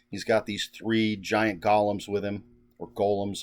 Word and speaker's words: golem: He's got these three giant golems with him, or golems. I know people pronounce it differently. I always say golem.